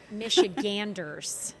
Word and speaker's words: Michiganders: Well, Michiganers, that's how you say it.